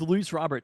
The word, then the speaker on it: Luis Robert: to be people are annoyed with my correct pronunciation of this but with lu Robert it gives you they're not cheap years necessarily